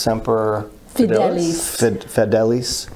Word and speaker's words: semper fidelis: high standard latin for always faithful and it's pronounced semper fidelis okay uh semper fi as i always heard